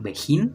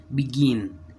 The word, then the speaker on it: begin: como se escribe en el caso de begin no se pronuncia literal como lo leíamos en español como beijing no begin bican ivicon sería donde el